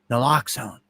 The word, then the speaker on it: naloxone: And see, that's what I didn't know how to pronounce it exactly, but naloxone.